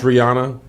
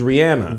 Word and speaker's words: Rihanna: robin first of all but it's re and then it's anna wait her legals robin robin brianna finchy come on josh robin rihanna and it's ariana grande